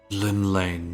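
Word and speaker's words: Llymlaen: Lim Lane. There we go. That's how you pronounce it.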